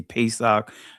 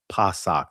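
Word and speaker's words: פסח: understand what Pac is, that's the Hebrew, the ancient pronunciation of the word Passover, where the word Passover comes from is Pac. I know many of you guys may say Pesak. The actual ancient Hebrew pronunciation of it is Pac.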